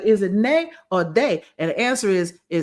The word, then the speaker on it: ne: For example, the word yes is spelled, we would call it N-E, nay.